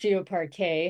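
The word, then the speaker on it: GeoParquet: the web, and how, it's pronounced GeoPar K, how we can simplify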